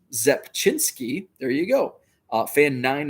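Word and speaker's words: Rzepczynski: a row in his victory over the yankees pronounced zepchinsky there you go fan nine and five innings so mark zepchinsky blue sapphire number to 60.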